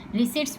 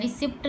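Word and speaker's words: receipts: P silent होता है रिसीट्स में, रिसीट्स बोला जाता है, रिसिप्ट नहीं बोला जाता।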